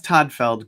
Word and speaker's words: Todtfeld: if you google toddfeld good luck with the silent t in the middle of my last name you'll end up on